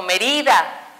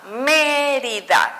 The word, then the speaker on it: Mérida: esdrújula suena mi palabra no digo mérida no digo medida digo mérida yo sé que aquí tengo mi sílaba tónica mérida y cuento última penúltima y antepenúltima por lo tanto es esdrújula y como me dice